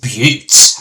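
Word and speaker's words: butte: A but pronounced but okay that's how you pronounce it. A but is an isolated flat topped hill with steep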